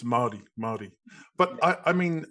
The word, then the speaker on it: Māori: everything, because if my understanding is, it's not Maori, it's Maori, right? It's Māori.